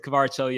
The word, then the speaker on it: Kvara: But you kind of look at Kvara, and people are saying I'm mispronouncing it still, but I'm gonna stick with Kvara as the pronunciation.